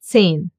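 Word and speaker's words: zehn: The letter H in German is a strange little fellow. When he's alone, he will not be pronounced and stay silent. Like for example in 10. You don't hear it.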